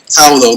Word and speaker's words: Paolo: Paolo, like think Pow, like Pow and Batman.